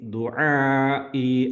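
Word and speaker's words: دعاء: ദുആഇ ആദ്യത്തെ ഐനാണ്, രണ്ടാമത്തെ ഹംസയാണ്, അലിഫിൻ്റെ ഉച്ചാരണമാണ് രണ്ടാമത്തത്. ദുആഇ മദ് ലോങ് മദ്ദാണ്.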